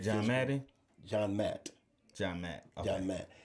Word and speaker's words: MANDT: So I'm certified in what we call MAT, and MAT is a certification for de-escalation and conflict resolution and crisis management, and also physical management, and that's spelled MANDT.